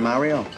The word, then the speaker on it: Mario: And they do pronounce Mario the authentic Italian way, like Patsy. Chicken Mario?